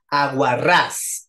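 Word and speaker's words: aguarrás: tu nombre lesl Cuéntame aguar ras aguar ras es aguda porque tiene la tónica hasta al final de izquierda a derecha lleva tilde o no aguar ras muy bien les Exacto sí lleva por qué Porque termina con s Okay aguar ras y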